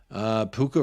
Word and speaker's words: Puka: Personally, Puka rhymes with Fuka.